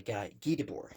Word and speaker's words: Guy Debord: Society of the Spectacle, by Guy Debord is actually the way that you pronounce it. Is Guy in like if you're saying guy in English, it would be Guy, that you pronounce it like that, but French is very Guy.